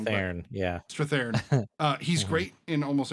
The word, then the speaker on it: Strathairn: I always say his name wrong. but- Thorn, yeah. Strathairn.